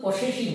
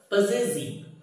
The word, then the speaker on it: possessive: আচ্ছা দেখো এর উচ্চারণটা কিন্তু পসেসিভ নয়। কি বলবে? পজেসিভ। পজেসিভ পি O double S E double S আই ভিই।